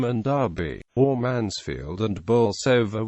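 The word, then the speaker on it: Bolsover: Derby or Manfield and bover which is pronounced locally as Bose in North Nottinghamshire the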